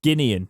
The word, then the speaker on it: Guinean: um for the oh it's guinean isn't it yeah it's guinean i always read that nationality and say it wrong however i've said it right guinean however it remains